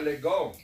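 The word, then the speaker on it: λέγω: A minúscula está la palabra griega que se pronuncia lego.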